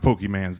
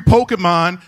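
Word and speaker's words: Pokémon: you know goddamn well it's not pronounced pokey man's dad you watch the show with me every day of the week dad you guessed the mystery Pokemon every day of the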